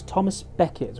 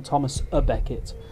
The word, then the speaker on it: Thomas Becket: And it was Thomas Becket rather than Thomas a Becket. There's a bit of a medievalism going on there. I think a mispronunciation, probably brought on by the Victorians.